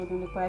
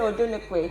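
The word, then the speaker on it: Odunukwe: Yeah, so I pronounced it wrongly. I'm going to say Odunlekwe. You have to pay for that. Odunlekwe. Odunlekwe is ODUNU KWE.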